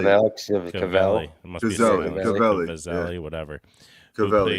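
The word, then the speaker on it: Caviezel: It's like a Z in Cavelli. there. Cavelli.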